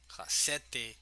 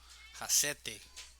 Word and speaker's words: Hassete: Hassete is the right pronunciation. Ball 2. Hassete.